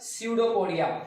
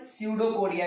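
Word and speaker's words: pseudopodia: हैं, that is called स्यूडोपोडिया। बट जब P silent है, दैट इज कॉल्ड स्यूडोपोडिया।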